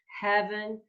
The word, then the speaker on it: heaven: Things like heaven, less on the have on the second syllable, heaven, and maybe lay, giving a little bit more length to that L sound.